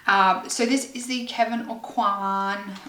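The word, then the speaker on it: Kevyn Aucoin: so this is the kevin o'quan or kevin aucoin i think that's how it's pronounced kevin aquan um like contour book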